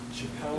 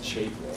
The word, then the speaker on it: Chapel: Is it Chappelle? It's Chapel.